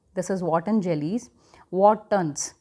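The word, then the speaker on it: Wharton's: वॉटसन jelly, ये वॉटन jelly जो है, this is वॉटन jellies, वॉटन्स pronounce आप करेंगे वॉटन्स।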